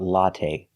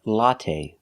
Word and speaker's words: latte: let's talk about latte we say latte we don't say latte the last syllable is the long a it's not stressed but we use the long a like say and pay latte make a long sound not the short latte but the long a latte the first syllable a latte it's the